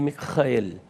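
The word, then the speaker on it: מיכאל: Testamento Como assim justamente o nome na verdade ele vem do hebraico mel e tanto no grego quanto no hebraico a pronúncia é justamente esta Mel mikhael Mel Quando você faz a a transliteração para a língua portuguesa dá Micael e não miguel miguel portanto é uma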